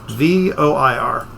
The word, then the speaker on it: Voir: VOIR. VOIR. So it's like noir but Voir.